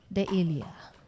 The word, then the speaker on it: Devillier: Devillier.